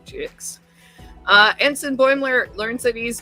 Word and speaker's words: Twovix: Not spelled with T-U-V-I-X, but T2, as in two, the number 2, Twovix.